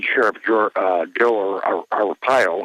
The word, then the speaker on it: Arpaio: jor uh jill or arpaio i believe that's how you pronounce his name yes just announced the